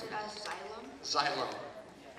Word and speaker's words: xylem: Xylem. Could you please use that in a sentence? Xylem is part of a plant as well as a weird word. So you pronounce it as xylem? Xylem.